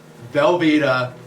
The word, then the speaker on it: Velveeta: Velveeta.